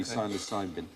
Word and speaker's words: psilocybin: But the magic mushrooms, psilocybin. So with a silent P, psilocybin.